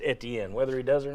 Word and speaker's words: Etienne: if you're from Louisiana and that's how you spell your name, it should be pronounced Etienne.